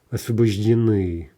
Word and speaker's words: освобождены: Освобожденный gives освобожден, masculine, освобождена, освобождено, освобождены, right? Again, end stress, and maybe a little bit hard to say at first, right?